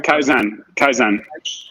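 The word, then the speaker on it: 改善: Is it kaizen or how do you Kaizen?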